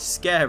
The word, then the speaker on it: Sker: It was also covered that it's not Sker ritual, not in Welsh anyway, it's Sker ritual. And because of my lack of Welsh accent, I'm still not saying it right.